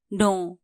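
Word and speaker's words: know: teach जानू थहा पनु नो के एन O double you नो नो यहां के साइलेंट हु्छ के एन ओ डबल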